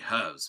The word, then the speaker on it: herbs: air, medicinal herbs, and I say herbs because there's a fucking H in it.